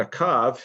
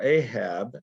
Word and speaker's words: Ahab: buried in shomron and akav his son became king in his place acab or ahab as it's pronounced in english or transliterated is who we're talking